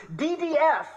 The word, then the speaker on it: DDF: I'm in orange, he's in blue, and he asks, DDF, which stands for drug and disease free, with the accent on the second D for disease.